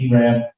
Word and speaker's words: Arab: It's spelled Arab, pronounced Arab.